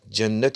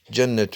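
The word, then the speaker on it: جنّة: evet Cimin fethı ile Cennet şeklinde okunursa bu kelime Bostan anlamına geliyor ya da müminler için hazırlanmış devamlı nimetler anlamına geliyor Evet Cennet B cimi Cimin fethı ile Cennet eil Bostan yani Bostan demektir ev yahut da sürgit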